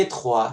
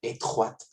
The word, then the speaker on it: étroite: Y étroit se vuelve étroite. Esta última consonante que no se pronunciaba en la versión de masculino, sí se pronuncia en la versión de femenino, ya que yo agregué una E al final.